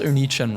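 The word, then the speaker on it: Onii-chan: Cringed when they pronounced Oni Chen wrong. There are two eyes for a reason. You're supposed to say both of them.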